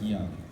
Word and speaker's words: Yong: So it's actually just Y-O-N-G, but it sounds like Young as that's spelled.